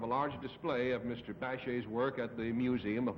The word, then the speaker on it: Bachet: Bachet, first syllable, from Paris.